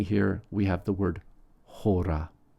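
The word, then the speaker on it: ὥρα: Finally here, we have the word hora. Hora starts with a rough breathing and the accent on the first syllable.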